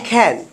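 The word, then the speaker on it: can: সবসময় মনে রাখবেন এই সি এর উচ্চারণটা কিছুটা খয়ের মতো হয়। কিসের মতো? খয়ের মতো। তাহলে এটাকে কি আমি ক্যান বলবো নাকি খ্যান বলবো? খ্যান।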